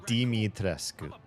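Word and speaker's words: Dimitrescu: It's deitrescu. Kind of sounds like demon almost.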